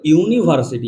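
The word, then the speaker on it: university: কিনা ওটা আমাদের ভালোভাবে খেয়াল রাখতে হবে ইউর উচ্চারণটা ইউর মতো আসছে দেখো ভালো করে দেখ ইউনিভার্সিটি ইউনিভার্সিটি যখনই আমরা বলতে যাই তখন আমরা কিভাবে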